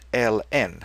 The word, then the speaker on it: ln: Just use ln, and we normally pronounce it ln. It's just like the one that you have to mow every summer.